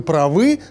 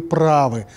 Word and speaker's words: правы: что-то раньше других опередить если ваш собеседник говорит вам вы правы то знайте он использует самую часто распространённую ошибку а грамотно ударение ставить конечно на букву а и говорить вы правы знаете как ставить грамотно